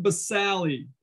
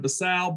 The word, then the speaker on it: basale: Okay, so the deepest layer, the stratum basale. That's not how you pronounce it. It's supposed to be stratum basale, but if I keep saying basale, you'll never forget there's an E on the end, and you'll put the